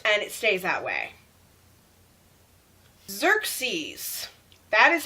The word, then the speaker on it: Xerxes: It's a z-er-k-s sound.